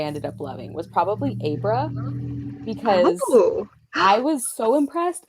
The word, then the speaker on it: Abra: thinking freaking abracadabra, so I kept calling her Abra. That's how they pronounce it in the audiobook.